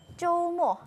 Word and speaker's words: 周末: 쪼모. 조모. 맞아요. 비슷하네요. 쪼모. 비슷하죠? 쪼모. 쪼모. 네, 한국어 발음이랑 비슷한데요. 네. 토요일은 쪼 길고 일요일은 금방 끝나요. 그래서 모. 조모. 길고 짧게 쪼모.